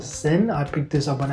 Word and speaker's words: Zens: So you've got Zens, I mean, that's how you pronounce it.